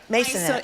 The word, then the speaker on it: Maisonet: We've been speaking with Gaby Albo and Chani Maisonet.